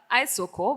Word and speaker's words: iSOKO: Okay, so the iSOKO, which you correctly Ah, pronounced because thank it's you. internet. There are Yeah. two words, internet, I, and then Soko is really Sokoni for market in Swahili.